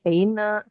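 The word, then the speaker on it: Seine: Kalau Ah, dia setelah N itu ada huruf E kayak gini Seina, Garona, Rona. Nah, itu bacanya N-nya kebaca N, dia nggak kebaca sengal.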